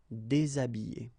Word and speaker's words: déshabiller: Okay, so you can see that here, this H here, this letter is not pronounced, so habiller and then déshabiller.